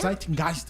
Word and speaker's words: Zeitgeist: Como é que se pronuncia mesmo? Zeitgeist, é só fazer uma fala alemão, é.